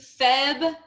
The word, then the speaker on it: February: Don't even act like it has no R. Pretend that there is no R after the B. February. February. February. February. Febu. February. Febu. February. Airy. February. Airy. February. So 3 syllables.